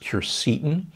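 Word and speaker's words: quercetin: a big fan of kercetin sometimes pronounced curcitin it's a compound that's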